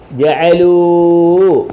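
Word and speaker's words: جعلوا: ജഅലൂ. ആണോ? ജഅലൂ ജഅലൂ. ജീമ് ജ, ഐന് അ, ലാമ് ലു ലൂ. അലിഫ് ഉണ്ടെങ്കിലും ലൂന്ന് വായിക്കും. കണ്ടോ? അലിഫ് ഉണ്ടെങ്കിലും ഇല്ലെങ്കിലും ലൂന്ന് വായിക്കും. ബഹുവചനത്തിന് ശേഷം ഒരു അലിഫിനെ എഴുതും, ആ അലിഫിന് ഉച്ചാരണമില്ല. ജഅല ജഅല ജഅലൂ, ജഅലൂ ജഅല ജഅല ജഅലൂ.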